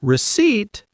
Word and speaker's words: receipt: And receipt. Silent P.